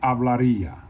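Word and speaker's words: hablaría: how to pronounce it you're gonna pronounce it ah and you run it together hablaria all right number of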